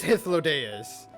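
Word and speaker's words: Hythlodaeus: then greetings i am hitholydes okay so i was right with the pronunciation the first time around it is histlo deus the first time i actually began saying his name was hitlodeus and then i began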